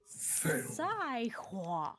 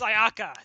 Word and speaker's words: Sayaka: Saihua. It's pronounced Sayaka, thank you.